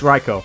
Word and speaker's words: Raikou: It's Raikou. There's a pretty simple explanation here too. That is how you pronounce the Japanese word for lightning.